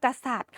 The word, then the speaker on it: กษัตริย์: รวม ทั้ง คำ ว่า กษัตริย์ ค่ะ เรา จะ อ่าน ว่า ร อิ ย กา ค่ะ เพราะ ว่า ร เรือ สระ อิ แล้ว ก็ ย ยักษ์ จะ ไม่ ออก เสียง เพราะ ว่า มี ทัน